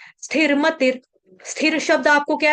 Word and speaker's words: स्थिर: ठीक है, इसमें स्थ, स्थ है यानी कि थ थर्मस वाला है, त तरबूज वाला नहीं आने देना, स्थिर नहीं है, स्थिर।